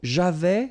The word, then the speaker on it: avais: So j'avais, final S not pronounced, tu avais, il avait, final T not pronounced, nous avions, let's make this beautiful liaison here, nous avions, okay?